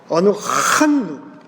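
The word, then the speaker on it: אֲנַחְנוּ: 어느 한누라고 써요. 여러분, 제가 늘 얘기하지만 히브리 말에 H 발음은 굉장히 강해요. 제가 비슷하게 한번 읽어볼까요? 어느 한누, 이렇게 되는 거예요.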